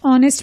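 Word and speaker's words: honest: mister Menon is dash ऑनेस्ट man mister Menon एक ऑनेस्ट मैन है अब ब्लैंक के बाद ऑनेस्ट वर्ड है जिसमें एच साइलेंट है यह ओ के साउंड से शुरू हो रहा है यानी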